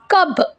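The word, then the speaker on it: कब: ஸோ கப், ப sound. Okay, so கப், ஏன்னா இந்த லெட்டர் இருக்கு இல்லையா, ஸோ இது வந்து ப, பா கிடையாது. ஸோ அதனால் நீங்கள் இதை எப்படி ப்ரொனவுன்ஸ் பண்ணணும் அப்படின்னா கப். கப். கப்னு ப்ரொனவுன்ஸ் பண்ணணும்.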